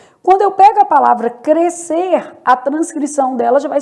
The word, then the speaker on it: crescer: No caso de crescer, há dígrafo. O S e C estão formando dígrafo, né? Então, apenas o som da letra C é emitido.